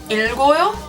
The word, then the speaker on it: 읽어요: However, in some cases, like 읽어요, 읽다, it is pronounced, and it is pronounced as an L.